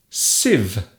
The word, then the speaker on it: sieve: Sieve. This word looks very strange. It has a very strange spelling and it is pronounced sieve.